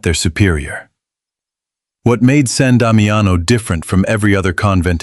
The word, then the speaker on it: San Damiano: The sisters settled at San Damiano, pronounced San Damiano, a small half-ruined chapel just outside Assisi's walls,